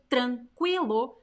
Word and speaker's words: tranquilo: tranquilo which means quiet tranquilo is pronounced qui but most of the